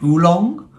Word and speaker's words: oolong: Oolong?